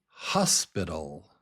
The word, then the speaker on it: hospital: Here is the word hospital. Hospital. Hospital. Do you hear it? The first syllable is strong, hos, and then pital. Hos pital.